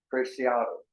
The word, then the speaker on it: Preciado: Pronunciation is Preciado. Preciado.